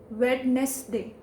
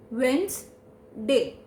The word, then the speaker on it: Wednesday: They speak it as Wednesday. Wednesday. But that's wrong. It will become as the Wednes. The Wednes in Wednesday will become as Wens. Wednesday.